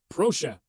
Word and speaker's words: Proszę: A pro golfer is always polite. A pro golfer says please. Proszę. Simple, right? Okay, now check out the power of this word. You can use proszę to say please when you're ordering a coffee.